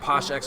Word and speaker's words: PoshXX: Here we got PoshXX versus McCray. The X is silent. X is always silent.